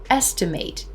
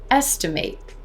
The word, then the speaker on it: estimate: pronounce it for example here's some nouns that can be a noun or a verb estimate is a noun estimate estimate that's a verb hear the difference in the ending there associate associate graduate